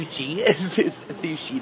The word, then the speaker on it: sushi: place called bluy shshi Sushi not shushi I pronounce it wrong